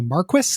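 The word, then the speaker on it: Marquis: character who this game calls the Maris instead of the Marquee I complain doesn't bother me I I I complained about that once apparently that is a that is the pronunciation in in England it is it is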